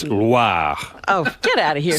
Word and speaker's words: Loire: Oh, I didn't Not roll the Loire. R. It's not LWA. Oh. It's Loire.